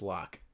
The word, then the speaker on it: Locke: I know it's pronounced Locke. That's also making fun of Andy Worski, called it Loki one time, and then that became a meme.